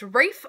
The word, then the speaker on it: Rafe: So sorry if I pronounce it wrong sometimes, but it is pronounced Rafe according to the audiobook.